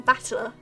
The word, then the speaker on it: Battler: That is made up of the characters for fight and person, and it's pronounced battler.